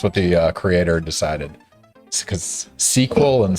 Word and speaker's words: SQL: It's pronounced sequel. Sequel. Okay, and that's historical. Why is that?